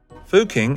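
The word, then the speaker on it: Fucking: the pub called Dick Max in Vienna either fuk King is an Austrian Village in the northwest of Austria and is spelled f u c k i n g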